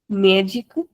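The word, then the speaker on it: médica: Again remember that we have an accent here on top of the letter E. So we have to put stress on the accent. Magic.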